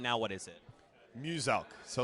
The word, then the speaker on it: Muselk: Now, Muselk wants you to know his name is pronounced as Muselk, the Australian-based content creator down there.